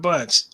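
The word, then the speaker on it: Bunche: doing it anyway number 35 Ralph am I pronouncing his last name right Bunch wait yeah Ralph Bunch okay go ahead okay was the first person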